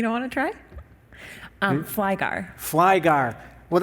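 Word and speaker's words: Flygare: Flygar. Well, that's exactly how it's spelled. I could have just said Flygar right there, F-L-Y-G-A-R-E. Good job.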